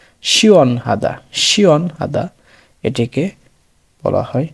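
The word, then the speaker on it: 시원하다: উ এবং অ মিলে উচ্চারণ হচ্ছে অর মতো শিয়ন, শিয়ন। এর সাথে হিউত, তার সাথে আ, হা, দ্বিগতের সাথে আ, দা, শিয়ন হাদা, শিয়ন হাদা।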